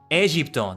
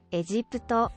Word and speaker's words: エジプト: Egypto. That's why. It is Egypto. エジプト、エジプト。エジプト。そうだったのか。I like it like that.